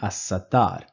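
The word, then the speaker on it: الستار: to pronounce the lamb in assat I do not see the scene in there is no scene in this list of alphabets so I will not be pronouncing the lamb in assat here I will say alwah here I will say assat so these list of alphabets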